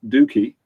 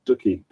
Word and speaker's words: Dookie: 90s with an album i can now pronounce dookie because it was ducky when i grew up because we didn't have